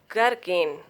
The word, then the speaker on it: gherkin: Now look at rule of silent letter H is if a word begins with GH, then H is silent. Gherkin, gator, gauze.